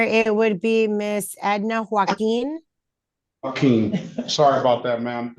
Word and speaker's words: Joaquín: Give me the correct pronunciation of the last name. Your Honor, it would be Miss Edna Joaquin.